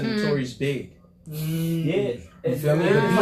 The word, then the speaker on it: B.I.G.: Some people, like only the people that fuck with you gonna pronounce it right. And if you lame, you might not even understand the name. Notorious B.I.G. How many people said Notorious Big?